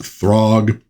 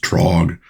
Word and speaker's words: Throg: Well, she soon enters into combat against Throg. I think it actually maybe would be pronounced Trog, but this gi you go, he's a dwarf.